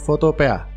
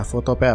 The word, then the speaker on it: Photopea: Yang pertama adalah Photopea. Ya, Photopea, bacanya Photopea, ya, bukan Photopea, ya, Photopea.